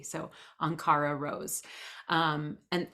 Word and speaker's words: Ankhara: r a Rose r o s e so anara Rose um and it's anara rose on Facebook